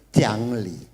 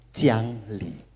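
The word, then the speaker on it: 讲理: Oke, yang putih itu dibacanya dalam bahasa Mandarin Jiangli. Jiangli.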